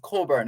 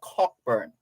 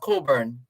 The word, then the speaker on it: Cockburn: That's why it's pronounced Coburn and not Cockburn. But it's spelled right? Yes, but it's pronounced Coburn.